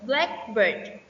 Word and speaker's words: blackbird: In compound words, stress is usually placed on the first syllable. For example, blackbird, type of bird.